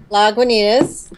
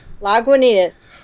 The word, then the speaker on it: Lagunitas: Lagunitas. It's delicious. That's how you say it? Lagunitas. Wow, I've been always calling it Lagunitas.